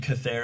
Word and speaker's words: Chathair: And Cathair is spelled Chathair.